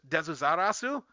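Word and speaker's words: Deathsaurus: And in the actual anime, it's pronounced Desarasu, which is like how you would say Deaths in Japan.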